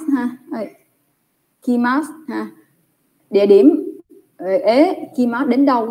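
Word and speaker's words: へ: Trong bảng chữ cái các em đọc là ha hi hư hề hô, đọc là hê. Nhưng mà vô câu mình không đọc là hê nha. Mình đọc là ế.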